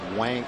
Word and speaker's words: Wang: Oh, it's W A N G. Why do they spell it W O N G? Cuz that would be Wong.